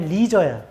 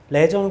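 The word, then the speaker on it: leisure: 그다음 목표를 잡고 재진수를 찾아보고 빈칸을 읽으면 with all of changes came up blank of leer 영어로 발음이 리저야 레저는 콩글리고이 모든 변화와 함께 레저의 빈칸이 온다.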